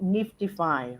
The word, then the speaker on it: NFTify: actually, sorry, it's actually called Niftify, right? So yes, it is a little bit, confusing maybe, because I know Mm, that there are some other projects out there that have very similar name. We yeah, call NFT, right? The yeah. spelling is NFTIFY.